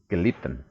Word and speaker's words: gelitten: Kalau ada 2 T biasanya diucapkan pendek. Stammvokal im preteritum und in perfect kurz. Lied, gelitten, ya.